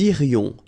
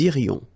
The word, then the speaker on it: irions: Nous irions, final S not pronounced. Nous irions.